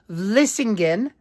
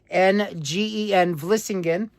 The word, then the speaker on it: Vlissingen: No, the original name for Flushing was Vlissingen. V as in Victor, Lissingen, Vlissingen.